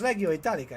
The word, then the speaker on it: Legio Italica: I always mispronounce that. Yeah, it's Legio Italica, isn't it?